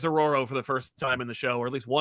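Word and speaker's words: Ororo: they prob aoro and I've always called her Aurora it's aoro it's aoro it's aoro okay I've always said her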